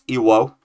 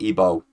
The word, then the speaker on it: Iwo: So that's Iwo, not Ibo. Iwo will TKO Ibo.